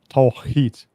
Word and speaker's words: Tawhid: It's very hard to pronounce. I have my issues with it as well. It's Tawhid.